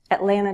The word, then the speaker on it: Atlanta: Atlanta, Georgia, the Peach State. You may hear that second T dropped sometimes. Atlanta, Atlanta, Georgia.